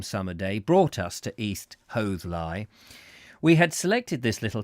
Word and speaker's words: East Hoathly: we should have imagined, owing to the curious local pronunciation of the names of places. "East Hoathly," he repeated in reply to our query. "There bain't no such place hereabouts, leastwise, I've never heard it tell it." Then, with sudden enlightenment, he exclaimed, "Maybe it's East Hoadley you want," giving a very decided emphasis on the last syllable.